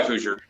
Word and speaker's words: Hoosier: your channel is called who's your helpers right it is saying it right that is correct it's hoosier like you would say indiana hoosiers um it's a german